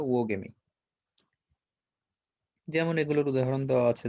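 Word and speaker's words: oogamy: হেটেরোগ্যামি বা উওগেমি, এটাকে এইভাবে উচ্চারণ করবা, উও, প্রথমে একটা উ তারপর ও, উওগেমি।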